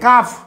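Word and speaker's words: calf: চলে আসেন কালফ সি এ এল এফ মানে কাফ উচ্চারণটা হবে সি এ এল ভি ই এস কালফস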